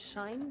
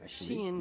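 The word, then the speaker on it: Shein: hear a lot about shine these days yeah is it it's pronounced Shen yeah um I don't know why but that's the way the Chinese pronounce it yes it's it's very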